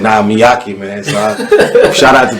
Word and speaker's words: Miaci: You're one of the only people that pronounce it correctly, but yeah. It's Miacci.